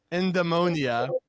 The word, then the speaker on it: eudaemonia: Eudaemonia?